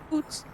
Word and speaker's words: Août: When you think about the letters, take away the Z and this is basically how you pronounce it, but it's written A-O-U-T. Oot.